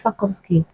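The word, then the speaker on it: Sarkozy: first time for several decades now even with sakovki yeah that's the pronunciation of sakovki even with him and even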